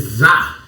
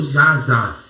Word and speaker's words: Zah: You're not even saying it right. It's Zah. No Zaza. Zah. One word. Zah. Don't no P. None of that. Zaz. No. Zah. That's that Zah. You say zah.